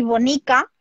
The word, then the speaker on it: bonica: Tenemos dos maneras de pronunciarlas. Entonces aquí, bonica, todo el que se escribe con O se dice bonica, como si fuese una U. Como una U.